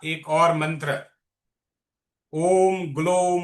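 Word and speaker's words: ग्लौं: ग्लोम ग्लो नहीं है। ग्लोम इसका उच्चारण है ग्लोम।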